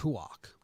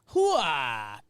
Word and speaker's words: Houck: That one's actually pronounced Huok, Houck. like Roark.